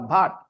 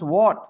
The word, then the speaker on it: what: No, bhat, bhat, bhat. I used to say bhat, okay? So my cousin told me to pronounce what, not bhat.